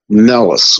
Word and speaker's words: Melas: And if you spell like things in a mirror or backwards, if you spell Salem backwards, it's MELAS. So it's phonetically sounds Mellis, almost malice, just slightly different spelling.